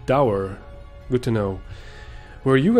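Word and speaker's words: Dour: So it is pronounced Dower.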